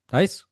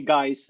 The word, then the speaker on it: Gijs: Let's let's go with the English version. Uh you can just call me guys, as in hey guys, and I will listen to that.